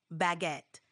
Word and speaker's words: baguette: It's pronounced almost like it looks, baguette, with a little emphasis on the second syllable.